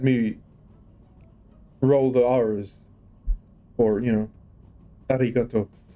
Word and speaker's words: arigato: But I said Japanese because learning how to pronounce Japanese in university had me roll the R's, or arigato. It's the tip of the tongue R. Arigato.